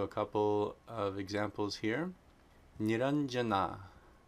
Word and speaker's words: Nirañjanā: Okay, if anuswara precedes a palatal sound, it's the nya, the palatal nasal sound. So a couple of examples here. Niranjana, Niranjana, Niranjana.